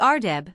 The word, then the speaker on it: ardeb: The ardeb, thus commonly pronounced, but properly written erdeb, varies in different places.